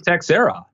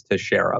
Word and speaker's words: Teixeira: story by Roy Teixeira, if I'm pronouncing his name correctly, which I'm sure I'm not. I think it's Texera. Okay. I'm joking. I told you before, I think it's Teixeira, but I got a